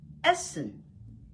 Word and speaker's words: essen: Essen.